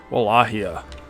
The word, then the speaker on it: Wallachia: better than playing as the good old principality of Walachia, as apparently it is pronounced.